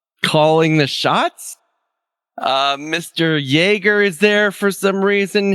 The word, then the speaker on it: Jaeger: that how was it he just says jagger like he reads his name but doesn't know the